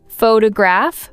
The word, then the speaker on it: photograph: For example, photograph versus photography. The stress changes depending on the form of the word.